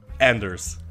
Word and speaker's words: AnderZEL: it andelle or Andel what do you prefer Anders Anders so's already messed up well I was